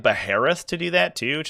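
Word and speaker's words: Baharroth: You could also take like Beheroth to do that too, which is kind of cute. Or Baharoth, as it I think is officially pronounced.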